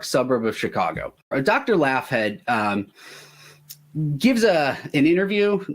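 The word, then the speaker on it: Laughead: named Dr Charles and I'm saying it laugh head I don't care how it's really pronounced it's l-a-u-g-h-e-a-d it's probably pronounced like log in there Dr laugh head he's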